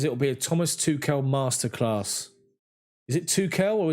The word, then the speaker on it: Tuchel: Dream says it will be a Thomas Tuchel masterclass.